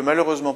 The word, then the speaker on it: malheureusement: Sixième exemple, je ne peux malheureusement pas vous aider sur ce point. Malheureusement, on a une prononciation en EMant, donc une terminaison d'adverbe qui comporte un seul M. Malheureusement, E, M, ENT.